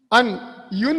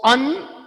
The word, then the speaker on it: un: Yun also is seen very rarely. It is pronounced. But the usual pronunciation is un. So un.